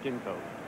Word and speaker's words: Ginkoba: this experiment is that we've been pronouncing Ginkoba with a soft G all year. It's tough to break habits now, Steve. and you're saying that we should pronounce it with a hard G. Right. Okay.